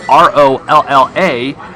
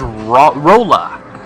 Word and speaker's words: Rolla: Now, a lot of people have asked the question because it's spelled R-O-L-L-A. Everybody thinks it's Rolla, but it's actually Rolla.